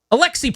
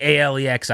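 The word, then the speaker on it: Aliaksei: Alexi is the hardest thing ever. It should just be a L E Xi or something. A L I A K S E I Alexi Ali.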